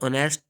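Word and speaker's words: honest: लोगों को पता है आवर ऑनेस्ट और एयर इन वर्ड्स में एच साइलेंट है इस वजह से यह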